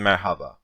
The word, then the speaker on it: merhaba: internet texting, internet speech, you can also see it spelled like merhaba, because saying merhaba is a bit mouthful, so we simply say merhaba. We drop the he letter in the middle. Yes, Mera, that's what I am doing right now.